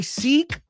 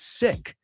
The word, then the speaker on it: sick: I say I go do you say seek and she goes no no no it's sick sick so we you You can learn from Lara's pronunciation.